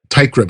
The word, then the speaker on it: Teichrib: Teichrib, like a tie and a crib.